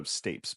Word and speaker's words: stapes: about do you spell St a PES so stapes but it's pronounced stapes weird okay it's it's also called